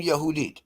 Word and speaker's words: Yehudit: The Hebrew name Yehudit. the Hebrew name Yehudit, right? Not Yahawah Dat. That's ignorant people.